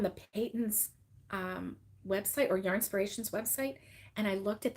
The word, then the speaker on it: Yarnspirations: started out with um how to pronounce yarnspirations he's like it's just like inspiration but with yarn and I was like